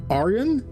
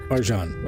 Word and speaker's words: Arjan: Starting with, is it pronounced Aryan? Arjan, okay.